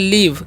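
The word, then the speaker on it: leave: क्या लिखा हुआ है एल ई एवी ई तो इसे हम क्या पढ़ते हैं इसे हम पढ़ते हैं लीव क्या पढ़ते हैं लीव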